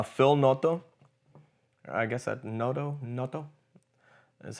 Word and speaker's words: Noto: I guess that Noto is how you say his name.